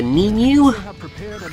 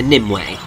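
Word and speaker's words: Nimue: I'm pretty sure that they called her NIM way which I much prefer his pronunciation it sounds a little bit more magical but she has the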